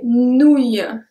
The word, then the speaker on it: nouilles: Les nouilles. Nouilles. It's exactly the same as grenouille, actually.